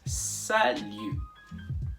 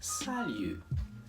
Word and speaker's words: salut: as well which is salu notice that the final t in this word is not pronounced it is not salute it is salu it's almost as if